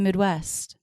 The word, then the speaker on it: Midwest: you think of the Midwest what did you think of the Midwest think and Midwest the most stressed there Midwest stresses on the second syllable of that word what did you think